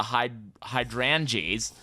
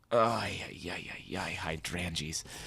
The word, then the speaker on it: hydrangeas: This is called the hydroangeas flower. I do believe I've pronounced that close to correct. Hydrangeas.